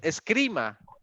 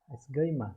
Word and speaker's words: esgrima: Escrima. Esgrima.